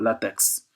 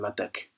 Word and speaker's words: LaTeX: Ou Word, par exemple, vers LaTeX. On l'appelle LaTeX, mais ça s'écrit LaTeX.